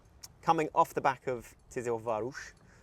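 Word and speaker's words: Tiszaújváros: coming off the back of Tis Varush as I believe it's pronounced um where to be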